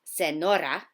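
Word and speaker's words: señora: me Neil and muñeca did you hear how it wasn't just a plain old and sound it's not just Senora it's Senora almost like an N and the wine next now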